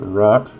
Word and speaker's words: HROT: so this is uh rot if i'm not mistaken that's how you pronounce it i looked it up